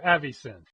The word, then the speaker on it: AviSynth: software, AVI Synth or AviSynth. I guess you're supposed to pronounce it AviSynth, but that seems weird to me because the name comes from the extension AVI, which is just an acronym.